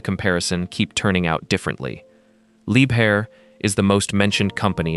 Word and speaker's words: Liebherr: It is pronounced Liebherr, not Lieber.